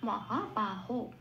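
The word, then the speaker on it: মহাবাহো: যেখানে বয়ের পিঠ কাটা থাকে সেখানে বয়ের উচ্চারণ একদম বাংলা বয়ের মতো হয়, ওয়া হবে না, এখানে বাই হবে। তাই এখানে বলা হলো মহাবাহ।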